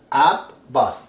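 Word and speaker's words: Abbas: this is B so when we see this sign over the top of B then we say up again we came with the B we say Boss AB boss so in English if you write down you have to say AB boss see AB Boss AB boss twice the B has to be pronounced that sign is important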